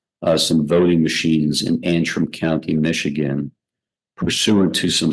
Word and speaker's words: Antrim: The county is Antrim, Antrim, Antrim County, Michigan.